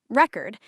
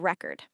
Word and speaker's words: record: As a noun, stress on the first syllable, record. Example, she broke the world record. Or, I bought a vinyl record. As a verb, stress moves to the second syllable, record.